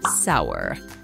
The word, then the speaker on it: sour: sourdough bread note that although the word sour is spelled somewhat like poor it's pronounced completely differently while poor is pronounced as po core sour is pronounced as sour sour cream and onion